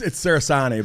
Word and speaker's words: Cerasani: It's Cerasani, but thank you. Cerasani. You know, you asked me earlier if I pronounced it right, and you said it right before. But everybody wants to do the I-N-I at the end. It's A-N-I.